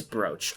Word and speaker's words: brooch: this gives me time to search how to pronounce brooch it is brooch okay i'm right cool i knew i was